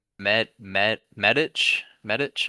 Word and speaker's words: Medić: Medich, I believe is how you pronounce that little on the C, you know what I'm saying? The little little dot over it.